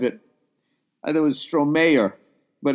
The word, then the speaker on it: Stromae: That's how you say it? Stromae. No. My God, I'm an idiot. Oh, my God, I'm a fucking idiot. It's Stromae, and then it was dash, you're welcome.